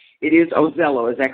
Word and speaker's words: Ozello: Rose devil and I just want to make sure I have the the correct pronunciation pronunciation of your name it is ozel oh is that correct that is correct yes I